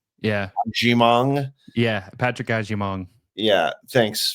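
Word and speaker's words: Agyemang: I'm not even going to try and pronounce his name. Ajimong. Yeah. Ajimong.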